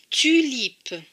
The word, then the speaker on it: tulipe: D'ailleurs, ce mot se prononce tulipe. Tulipe. On entend bien le son U. Tulipe.